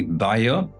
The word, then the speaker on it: Bayer: Once, many years ago, I worked with the German company Bayer, or Bayer as the Americans pronounce it, and traveled to Rengsdorf in Germany.